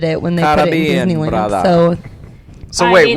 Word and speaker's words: Caribbean: It's not Pirates of the Caribbean, it's Pirates of the Caribbean.